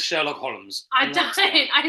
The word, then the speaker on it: Holmes: say it right uh L is totally right but it's a silent see it's a silent that's not homes holes it's a silent ELD isn't it no it's not silent might be Sherlock HS